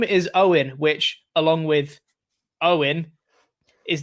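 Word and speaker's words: Eoghan: along with owen is the irish version of owen and it's pronounced exactly the same so his name is spelt a e-o-g-h-a-n and he said along with e o i n they're all pronounced owen while it is a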